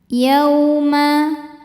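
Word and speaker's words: يَوْمَ: Yauma. Yaw ada huruf lin atau harfulin karena ada waw sukun sebelumnya berbaris fathah. Cara bacanya cukup dilembutkan atau dilunakan.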